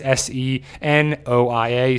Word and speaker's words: Senoia: It's Senoia.